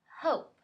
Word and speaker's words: hope: say the e no because the E is now silent so let's try again h o p hope now let's read the